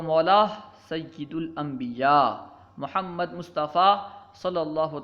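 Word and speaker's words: سیّد: علیہ وسلم کا ہے۔ لفظ سید کے بارے میں لوگ عام طور پر غلط تلفظ کرتے ہیں، سید کہتے ہیں۔ لفظ سید کو عام طور پر لوگ سید کہتے ہیں، بلکہ سید ہے، سید نہیں ہے، یا کے کسرہ کے ساتھ سید، ٹھیک ہے۔ سب سے بڑا رتبہ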